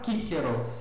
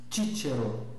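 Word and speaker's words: Cicero: Então, o nome do o nome de Cícero, por exemplo, na pronúncia restaurada, kickero, na pronúncia reconstituí, na pronúncia eclesiástica, títero, títero, tá?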